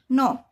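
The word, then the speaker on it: knock: नोक। यहां पर भी के के बाद एन आया तो के साइलेंट हो गया।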